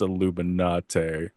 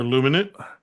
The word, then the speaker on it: Illuminate: I'm pretty sure it's not supposed to be pronounced Illuminati. Yeah, it is. Or Uh, illuminate.